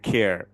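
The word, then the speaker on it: care: খেয়ার খেয়ার খেয়ার এখানে সাইলেন্ট ই হয়েছে কিন্তু উচ্চারণটা খার হবে না এটা হবে কেয়ার কেয়ার এটার ব্যাখ্যা আইপিএ সিম্বল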